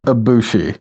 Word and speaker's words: Ibushi: So Koto, is it Ibushi? How do you say his last name? It's Kota Ibushi.